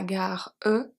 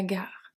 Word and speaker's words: gare: But if we look at la gare, we don't say la gare, etc. We say la gare.